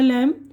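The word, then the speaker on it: lamb: कोम, कंगा, ये कोम बोल रहे हैं मैं ना, COM बी है लेकिन कोम पढ़ रहे, बी साइलेंट। इसी तरह लैम, मेमना, थम, अंगूठा, ठीक है।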